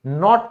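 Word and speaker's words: knot: है, गांठ पड़ जाती है, तो इसे हम नॉट कहते हैं, क्योंकि इसमें भी के साइलेंट होता है।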